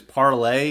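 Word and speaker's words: Parler: the funny thing about parlor is part of this proper pronunciation is parlay it's supposed to be it's supposed to be french word but of course it's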